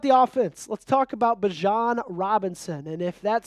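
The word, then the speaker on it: Bijan: Let's talk about Bjan Robinson.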